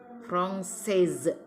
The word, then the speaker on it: française: Kalau perempuan selalu diakhiri huruf E, jadi tekanannya lebih ada di ujungnya ya. Je suis française. Française. Ada E ujung, tekanan E di ujung.